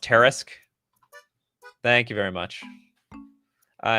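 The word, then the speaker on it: Tarrasque: Oh, it's pronounced Tarisk.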